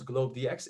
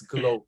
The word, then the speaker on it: GlobeDX: with globe you know we don't pronounce globe dx it's glow yeah you see it